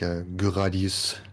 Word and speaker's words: Gradius: it jamers is it gradius is it gradius well the Japanese is like gadius so gra Gus prevented